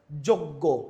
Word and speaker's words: যোগ্য: উচ্চারণ এর মত হয়ে যেমন যোগ্য য ও এর মত হয়ে গেছে যজ্ঞ বলতেছি না আমরা কি বলছি যোগ্য তাহলে ও এর মত